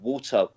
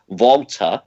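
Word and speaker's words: Walter: if you don't know water i keep saying what says volta pronounce it properly right he won the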